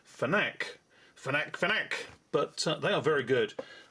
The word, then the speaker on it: FNAC: there, FNAC from France, which I believe is pronounced FNAC, but they are very good.